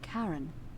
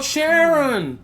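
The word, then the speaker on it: Charon: oh just as you described it only your pronunciation is a little off the name you heard wasn't karen it was c-h-a-r oh sharon the ferryman dead oh my god it's him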